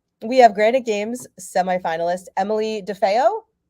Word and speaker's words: DeFeo: Athlete, we have Granite Games semifinalist Emily DeFeo. Yes, that's how you say it.